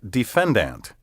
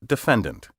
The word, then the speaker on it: defendant: In the courtroom, pompous lawyers and judges often pronounce these words juror, vendor, and defendant, and many members of the laity are now imitating them.